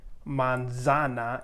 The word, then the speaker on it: manzana: english like zebra because you're always going to have it or say it with an s sound so seita so you wouldn't say manzana you would say monsana